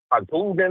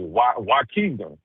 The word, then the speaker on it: Waukegan: Coogan or something. I think that's how you pronounce it. Spell it? Oh, I'm about to tell you exactly what it is. It was Waukegan.